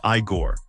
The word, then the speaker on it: Igor: Frankenstein as the unforgettable Igor pronounced Iiggore.